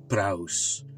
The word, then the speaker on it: praus: So the word meekness actually comes from the Greek word praus, right?